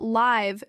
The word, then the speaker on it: live: Notice that live does not stretch the eye. That detail avoids confusion with leave which means to go away.